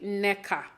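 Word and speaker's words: Nneka: person she's eil and it's pronounced Ina is actually NECA but I guess to help you guys kind of I think if you put an E I think you should be able to pronounce it better than just NECA anyways um so we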